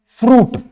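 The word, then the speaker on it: fruit: example ले लेते हैं फ्रूट फ्रूट इसको आप कभी फ्रूट पढ़े क्या ज I ever pronounce in द वड फूट नो साथ ही अगर देखे तो सूट यहां पर भी आई का प्रोनंसिएशन नहीं होता है आई का प्रोशन य पर भी नहीं होता है तो ये कुछ ऐसे पर्टिकुलर वर्ड है जो कि जिसमें आई साइलेंट होता है नेक्स्ट एल के एल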